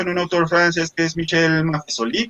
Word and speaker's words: Maffesoli: un autor francés michel maffesoli creo que se pronuncia maffesoli para con un tema